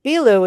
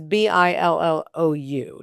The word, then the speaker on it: Billou: And the Billou is Billou, just so you can see it under his name.